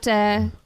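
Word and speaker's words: Tu Nach: It's called Donash DJs, which means you dance, basically.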